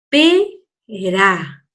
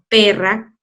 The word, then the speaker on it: pera: Pera. Moreno, ¿te fijaste? Entonces, cuando yo la pronuncie, la puedo pronunciar despacito. Tetera, pera, moreno. No voy a decir teterra, perra, moreno. ¿Te fijas?